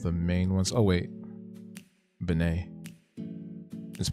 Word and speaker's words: Benet: Benet. Just pronounce Benet like Eric. Benet.